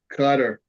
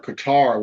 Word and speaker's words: Qatar: look at uh Dubai you look at uh cutter or or Qatar whatever you want to pronounce it those places are like tourist traps